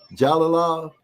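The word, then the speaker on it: Jalolov: Jalalov. So yeah, you are pronouncing the J.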